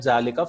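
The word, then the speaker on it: ذلك: Haza and zalika are pronounced haza and zalika. So you don't write haza as like this and zalika as like this. It's just written as haza, zalika without the alif.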